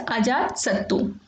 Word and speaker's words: Ajatasattu: Similarly Ajatashatru is also called as Ajatasattu.